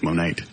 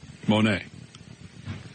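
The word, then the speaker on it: Monet: Monae what I say oir how do you spell it m o n e t Al it's monate I must be thinking of somebody else you're thinking of the impressionist Monae now if I was going to get a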